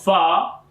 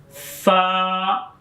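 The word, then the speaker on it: ف: And when we are reading of Fa, we are use our lips. Fa.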